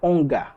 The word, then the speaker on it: ankh: ce symbole-là, hein, cette ankh. On l'appelle l'ankh, mais en réalité, ça se prononce plutôt comme onga.